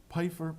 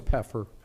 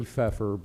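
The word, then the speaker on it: Pfeiffer: is it pyer? It's puffer. It should be feeffer, but we pronounce it.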